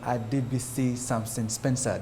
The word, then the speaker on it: Adebisi Samson Spencer: Therefore, today we are joined by Esquire Adebisi Samson Spencer. Did I pronounce those correctly?